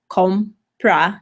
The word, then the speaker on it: compra: my original verbiage kompa compra two syllables the second-to-last sellable 0 so the 0 gets the accent compra may lo's comprame